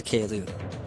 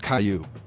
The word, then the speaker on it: Caillou: Caillou. Shut up! Caillou, calm down. Wait! I meant Caillou.